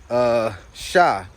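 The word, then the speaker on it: Xia: Shah is how you pronounce it. It's spelled X-I-A, but it's actually pronounced the Shah dynasty.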